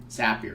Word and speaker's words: Zapier: Zapier is actually how you say it, and allows you to send this data into 1,000 different apps.